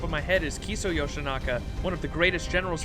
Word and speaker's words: Yoshinaka: it lord yoshinaki lord yoshinaki yeah yoshinaka i i said it wrong my bad did i